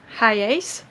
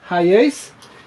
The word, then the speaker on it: Hiace: We just bought this Toyota Hiace, I say, but the pronunciation is actually ... Hiace Hiace model 97 and it belonged to a guy